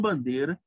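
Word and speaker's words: Бандера: mal crânio chamada Stefani Bandeira meu nome é assim que se pronuncia é bandeira bandeira em português E isto é para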